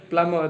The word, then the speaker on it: plumber: Plumber that is a correct example. There is a B is silent but we call it we simply call it plumber.